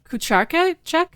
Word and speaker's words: Kucharczyk: Kucharczyk? That's what they say. Yep, that's exactly what they say. That was an American would say. Yeah, but like in Polish, it's Kucharczyk.